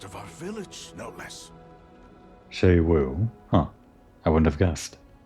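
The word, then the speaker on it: Xu Wu: They claim he was taken by Shei-Wu. Oh, that's how you pronounce it. And from the midst of our village, no less. Shei-Wu.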